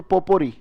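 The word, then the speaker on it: potpourri: मिक्स कर देना, इसको पोपोरी। अब देखो, याद हुई स्पेलिंग? पो कैसे पढ़ोगे, पीओटी, पीओटी, और पोर और री, बिल्कुल सही। पोपोरी की स्पेलिंग, पहले पो बोलो, पीओटी, पोर बोलो, उसमें री जोड़ो, बोलो पोपोरी।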